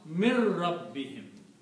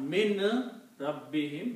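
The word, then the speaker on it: مِن رَّبِّهِمْ: So you do not pronounce Noon, but you pronounce this Ra twice. So you pronounce Mir Rabbihim.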